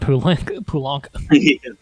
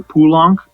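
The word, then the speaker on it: Poulenc: on who you ask i hear pulang and pulank yeah i was going to say i have to imagine pooling is just the most americanized yeah good old france's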